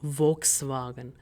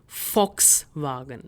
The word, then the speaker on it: Volkswagen: If you know this car company, this is German based, and the pronunciation is not Volkswagen, but rather Volkswagen.